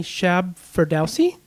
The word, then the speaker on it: Shab Ferdowsi: This has been Blushh, and I'm going to hope I get the names pronounced correctly. Shab Ferdowsi?